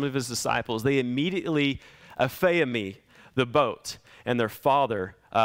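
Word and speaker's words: ἀφίημι: the Greek word that we have here it's pronounced Affair me can y'all say that me we're not getting out of this until you do it a fee of me there we go yeah that's kind of fun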